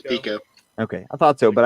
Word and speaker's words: Pico: It's Pico. Okay, I thought so, but I'm on a roll of mispronunciation tonight, so.